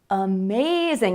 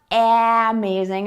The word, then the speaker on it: amazing: For example, the word amazing. Amazing. It's not amazing, it's amazing. Amazing. Amazing. So many words that have more than one syllable in English have a stressed syllable, and then either before or after the stressed syllable, you will hear the schwa sound.